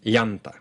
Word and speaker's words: llanta: And so I'll add one last sound here, and that is y as in llanta. This is basically the exact same position as ny.